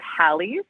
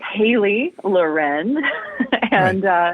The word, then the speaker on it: Halie Loren: I get a lot of Hallies, which I totally understand. But it is Halie Loren.